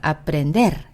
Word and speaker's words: aprender: aprender, aprender.